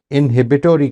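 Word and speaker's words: inhibitory: सामने एक चीज बोली इनहबिटोरी कंट्रोल इनहिबिटोरी कंट्रोल ये है अमेरिकन प्रोनंसिएशन इसी स्पेलिंग की ब्रिटिश प्रोन्सिएशन इनहबिटरी कंट्रोल है ठीक है अच्छा अच्छा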